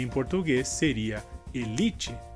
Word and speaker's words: elite: Essa palavra em espanhol seria élite e em português seria elite. Nesse caso, a diferença seria que em espanhol a sílaba mais forte seria a inicial, que seria e em português li.